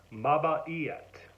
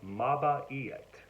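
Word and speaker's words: mabait: good it's maava yet ma ba yet it's spelled this way and it's pronounced this way ma ba yet and this for number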